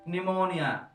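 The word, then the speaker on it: pneumonia: بتحصل له عملية التهاب رئوي، ودي طبعا من الأعراض المتأخرة جدا في المرض، ودي نيمونيا. البي طبعا سايلنت.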